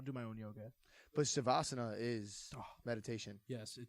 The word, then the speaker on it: Shavasana: Shavasana.